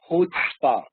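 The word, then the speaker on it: chutzpah: pronunciation is HPA okay the pronunciation of this word is hootspa what is the meaning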